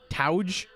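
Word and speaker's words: 峠: you're like what no have you ever heard how Japanese people pronounce it yeah touge all right T we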